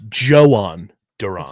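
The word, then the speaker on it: Jhoan Duran: It's Joan Duron. It's Joan. All right. Thank you. It rhymes. That's what I tell people. His name rhymes.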